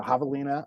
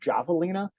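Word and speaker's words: javelina: it is so yeah Havalina uh being from Chicago I was pronouncing him javalina uh turns out mispronunciation but um yeah just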